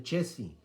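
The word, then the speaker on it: Chézy: es francés frank ciencia se acentúa la segunda sílaba y por eso mucha gente aquí le dice la ecuación de che sí pero lo están pronunciando como si fuera inglés y el francés debe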